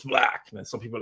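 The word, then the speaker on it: 6LACK: I'm like, is it 6 Lack or Black? I never really listened to him. And I'm like, it's 6 Lack. And they're like, no, it's Black.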